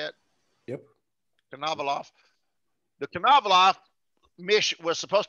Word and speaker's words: Konovalov: Konovalov.